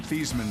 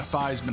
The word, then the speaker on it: Theismann: First of all, he changed his name from Theismann to Theismann to rhyme with Heisman when he was at Notre Dame.